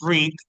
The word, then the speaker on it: read: y book, por leer, y efectivamente el verbo es read, que en pasado simple mantiene la misma forma, la pronunciación es diferente, porque es read el presente, read el pasado simple, pero la forma es igual.